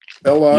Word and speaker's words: Ela: Ela Yeah. is E-L-A, Ela. E is pronounced A in Yoruba. It's just like Spanish.